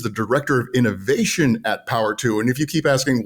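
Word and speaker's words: PWR2: director of innovation at Power two and if you keep asking why are we saying power two power two well it's spelled pwr and the number two and that's the company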